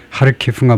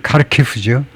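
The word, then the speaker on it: Харків: 우리는 이제 하르키가 뭐 이렇게 말하는데 아마 우크라이나 발음 하르키 뭐 이렇게 되나 봐요. 근데 영식 발음은 카르키프죠.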